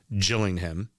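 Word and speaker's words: Gillingham: and then finally rexam beat your B Rivals jilling him spelled Gilling them call themselves The gills even though the town is pronounced Jill I I hate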